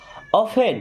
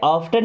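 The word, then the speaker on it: often: करें तो usually okay ऑफेन इसे ऑफन नहीं पढ़ते क्या पढ़ते हैं ऑफेन ऑफेन का मतलब होता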